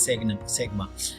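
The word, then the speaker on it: σ: या is mostly widely used measure of the dispersion of a series, commonly denoted by symbol sigma, pronounced as sigma.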